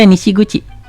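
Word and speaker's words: 西口: Oke, di sini ada nishiguchi, ditempel ke pintu. Nah, ini juga sering muncul. Jadi kita harus terbiasa yang kuchi kalau sendiri, tapi kalau ditempel ke sini jadi guchi, nanti artinya jadi pintu, agak beda.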